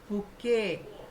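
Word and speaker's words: bouquet: Collective nouns crowd procession बुके। अब ये जो बुके वर्ड है ना ये सब लोग ध्यान से देखो। बी ओ इसमें यू जो है वो भी साइलेंट है।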